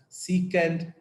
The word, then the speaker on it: secant: That is going to be the reciprocal of this cos theta, and this is written as SEC, and we pronounce this as secant theta.